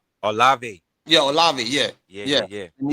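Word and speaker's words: Olave: Chris with Chris O uh Ole how you pronounce it Chris Olive.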